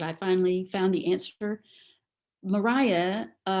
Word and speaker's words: Maria: Maria was the pronunciation until after the Napoleonic Wars, when the English started traveling more on the continent and they were exposed to the Maria pronunciation then. But at this time, when Jane Austen is writing, it is Maria.